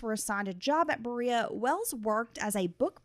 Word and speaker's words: Berea: Now, you know, I was today years old when I realized that it's pronounced Berea and not Beret. Okay. I thought it was Beret.